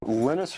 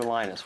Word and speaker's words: Linus: Linus or Linus? What's your preferred pronunciation? When I speak Swedish, it's Linus.